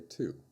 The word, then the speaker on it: to: When you speak slowly and clearly, you say to. When you speak in normal conversation, you often say ta.